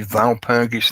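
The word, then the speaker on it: Walpurgis: well fergus knight or shouldn't it be valpurgis knights in the german because i think the the w's pronounced moors of the valpergish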